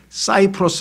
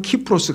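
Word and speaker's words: Cyprus: 섬을 뭐라고 얘기 하냐면 사이프러스 라고도 해요 사이프레스 분쟁 이렇게 왜 영어식으로 바라보면 cs 로 발음 하니까 그런데 걸을 그리스어 식으로 바른 키프로스 가네요 그래서요 단어가 시 자하라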